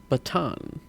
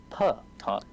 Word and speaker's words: Patan: You cannot pronounce the Patan? Baton. Baton. No, Patan. Patan. Patan. Yes? No? It rolls off the tongue, but it's hard to say. When I think of it, it sounds like baton.